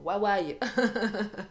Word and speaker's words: Huawei: Moi, j'ai pas d'iPhone, moi j'ai un Huawei. C'est comme ça qu'on prononce.